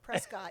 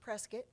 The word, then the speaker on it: Prescott: Dorothy was from don't get it twisted not Prescott it's pronounced presc presc presc presc it is pres that's what